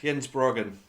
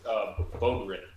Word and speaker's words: Bogren: And so Jens Brogan, did I say it right? Brogan? I think it's Bogren. It is Bogren.